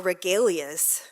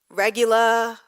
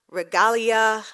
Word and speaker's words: regalia: when erica emailed us about picking up our regalias i had no idea what that was so like a true gen wire i couldn't first googled the pronunciation regula regalia regalia and then i moved on to the